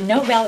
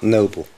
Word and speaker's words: Noble: are you okay good is it Nobel or novel noble noble okay I've seen this spelled yes it's n-o-b-l-e but it's a common mistake okay whatever you're ready